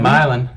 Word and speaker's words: Milan: Milan. It's spelled like Milan, but it's not said that way.